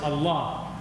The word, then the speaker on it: Allah: But I love Allah, with three A's, A-L-L-A-A, because when you pronounce it, it's Allah. So there's an accent on the second A that's not there on the first.